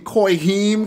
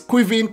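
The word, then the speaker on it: Caoimhín: I couldn't say it I was saying coy him Kelleher but it's qui vient Kelleher and he is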